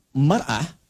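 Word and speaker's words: مرأة: Yang satu pakai fathah, yang satu pakai kasrah. Muru'ah itu punya 3 arti.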